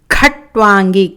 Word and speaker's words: ఖట్వాంగీ: సో పాణిశ్చ ఖట్వాంగి, ఖ మహాప్రాణ, ఖట్వాంగీ గీ దీర్ఘం, ఖట్వాంగీ విష్ణు వల్లభః, వల్లభ భ మహాప్రాణ.